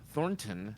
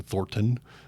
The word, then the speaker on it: Thornton: You're definitely not from Colorado because you pronounced all the T's in Thornton. Oh, how's it pronounced? It's Thornton.